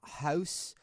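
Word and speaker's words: Haus: next one is from house of earl how do you say that h-a-u-s i don't like when people involve things like that like a house like house like house house yeah house of earl said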